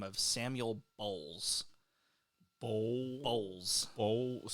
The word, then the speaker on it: Bowles: the name of Samuel Bowles. Bowles. Spell it, please. Bowles. Bowles. That's not just bowls with an S at the end, it's an ES, so it's got a little bit more of a pronounce.